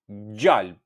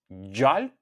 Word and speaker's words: gjalp: For butter, in Albanian, you can say gjalp. gjalp And for snake gjarper gjarper gjarper So once again butter jalp jalp and snake jarper jarper Thank